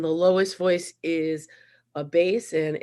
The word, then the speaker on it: bass: lowest voice is a base and it's b-a-s-s but it's not pronounced bass like the fish and i think michael